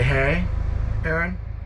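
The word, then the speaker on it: Deshaies: it in our Target it's called a hey Aaron but it's spelled uh d-e-s h a i e s 42 nautical miles I'm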